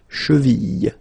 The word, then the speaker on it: cheville: Remember, double L like that after I, cheville.